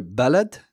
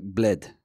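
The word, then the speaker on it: بلاد: most dialects but in in Moroccan it sounds like bled bled so ballad like ba la D sounds like bled when a Moroccan says it the short vowel on the first syllable just disappears and this means that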